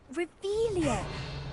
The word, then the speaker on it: Revelio: You're Revelius. saying it wrong. Ugh, Revelio.